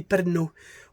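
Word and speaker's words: Pärnu: Parnu, vous voyez bien, ça se prononce ici Perno.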